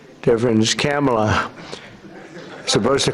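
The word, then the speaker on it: Kamla: Cam, as opposed to Com.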